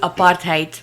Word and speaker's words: apartheid: different wing yeah and it's pronounced apartheid by the way I know anyway what was